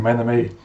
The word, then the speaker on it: Menome: I am Menome, that's how it's spelt and that is how it's pronounced.